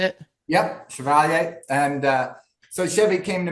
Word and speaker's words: Chevalier: Yep, Chevalier.